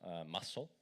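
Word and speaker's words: musl: this configuration flag which it's pronounced muscle I know it's funny um and then yay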